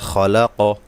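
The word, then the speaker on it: خلق: মধ্যে তবাই মধ্যে আসলি আবার দেখুন আগের আয়াতের মত এই কফে কলকলা করতে হবে সাকিন করে এটা একটা কলকলার হরফ মিনারি মালাক এই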